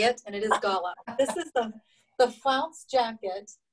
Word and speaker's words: Gala: I even looked that up of how to say it, and it is Gala.